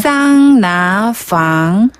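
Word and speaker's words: 桑拿: 사이에다 싸우나 개념의 짐질방 쌍나 쌍나 사우나 같은데요 쌍나 그렇죠 사우나 방 이렇게 발음하는 거 같죠 아 사우나 방네이 핀란드어 사우나의 중국식 발음을 중국어로 쌍 나라고 하고요 쌍나 그리고 방 집이란 뜻을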